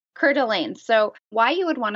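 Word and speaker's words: Coeur d'Alene: of the world here so you're going to cordelan cordelan so why you would want to start there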